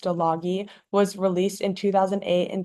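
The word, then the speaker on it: Стиляги: So, Hipsters, or in Russian, it's pronounced Stologi, was released in 2008 and directed by Valery Todorovsky.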